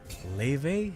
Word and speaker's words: Laufey: She's Icelandic. Apparently it goes something like Leve? Something. Oh, really? Yes. It's pronounced like Leve. Leve. Something close to, I know I'm doing it wrong, but something close to that. It spells like Laufey. It's spelled like Laufey, but apparently it's read like Leve because it's in Leve. Icelandic. Ah, so The more you your know. F is V.